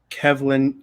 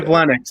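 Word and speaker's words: Kivlenieks: 4th of July was the death of Mattis Kivlin. I don't even know how to say it. Perfectly before the show. Kivlenix.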